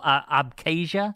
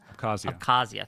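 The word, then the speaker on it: Abkhazia: in Georgia they put and they took an interine conflict that was in South Oessa and um I can't pronounce oh abcasia abcazia thank you and they pumped money into them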